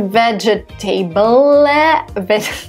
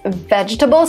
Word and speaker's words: vegetable: Two letters E here are silent. Listen to me carefully. So it's not vegetable, whatever. It's vegetable. So the second E is not pronounced and the last E is not pronounced.